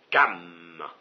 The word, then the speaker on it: Cham: c'était le peuple qui descendait de Cam, ça s'écrit Cham, qui descendait de Cam, et qui était venu se développer là où est maintenant l'Éthiopie.